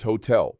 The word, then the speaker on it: hotel: Hotel is hotel, pronounced hotel. While the spelling is identical to English, notice that the H is silent and the stress falls on the final syllable.